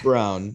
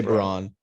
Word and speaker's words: Braun: get nurtured for sure or is it brown it's brown it's brown but we say brawn yeah cool look at how it's spelled christian bro i thought it was brawn i said this whenever